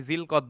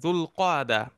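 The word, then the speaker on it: ذو القعدة: দেখেন, দুল কাদা মাসটাকে আমরা বাংলায় জিলকদ বলি, আসলে শুদ্ধ উচ্চারণ হচ্ছে দুল কাদা।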